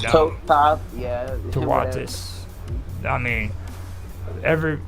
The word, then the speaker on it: Thoth: don't even know how to properly pronounce his name. All right, they really It's don't. Toth.